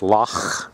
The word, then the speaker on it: Loch: beach on the famous Loch Ness pronounced luck not lock as we're told lock means lake and